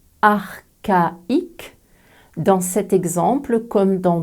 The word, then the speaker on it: archaïque: avec ce mot prononcé archaïque dans cet exemple comme dans de nombreux mots d'origine grecque le bloc c'est plus h se prononce que et pas che d'autres exemples archéologues orchestre